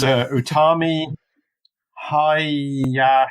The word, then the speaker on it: Utami Hayashishita: Now I've got to pronounce her name, which is Utami Hayashishita. Utami Hayashishita, yes.